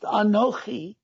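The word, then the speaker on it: אנכי: another expression of the word ani it is pronounced anoki which is i am that which brought you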